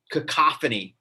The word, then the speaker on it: cacophony: says in today's noisy world with its cacophony cacophony is that a word i would ever use